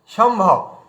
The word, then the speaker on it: সম্ভব: আচ্ছা, তারপরে দেখুন এখানে ভ আছে, বিন্দির পরে ভ আছে, এই জন্য আমরা বলছি কি সম্ভব, মানে বিন্দিটা ম হয়ে গেল, কিন্তু ময়ে হলন্ত হয়ে গেল, সম্ভব।